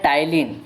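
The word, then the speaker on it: टायलिन: मुख गुहा में पाचन, तो जो है टाइलिन, ठीक है, इसे आपको लिखा जाएगा पी, तो पी यहाँ पर साइलेंट रहता है।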